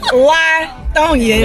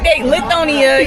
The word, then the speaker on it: Lithonia: Latonia is how it's pronounced. Yeah. Latonia. Yeah. That's not the same place. Yeah, the people that's not from there, they Lithonia, you know, whatever. Okay. But yeah, it's Latonia.